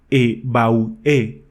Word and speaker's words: Evoé: El grito Evoé, que se pronunciaba en realidad E Bau E, era la voz sagrada